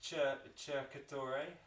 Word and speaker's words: cercatore: So in Italian, a C on its own, just think of it as CH in English, and Okay. you've pretty much got it. Is it Cercatore?